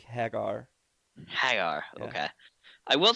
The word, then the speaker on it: Hager: real name okay it sounds like Mike Haggar at the mayor of that's actually how they pronounce it on the show is Jake Hagar hi okay I will